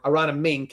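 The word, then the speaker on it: Aronimink: In this case, everybody walked in about Arana Mink. I may have said that right. Arana Mink is how you say it, right?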